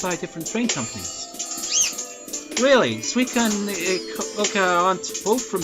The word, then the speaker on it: Suica: If you see that in a sentence, it's probably gonna be pronounced like Swede. Like Sweden.